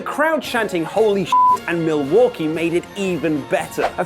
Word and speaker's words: Milwaukee: There was one night she never told Rusev about in Milwaukee. Actually, it's pronounced Milwaukee, which is Algonquin for the good land.